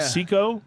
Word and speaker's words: Cicco: chico or cto how do you say that it's cicco so i call it seco but uh uh who knows it's hard to